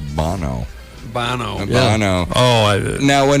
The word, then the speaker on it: Bono: about the band U2, I think it's technically pronounced Bono.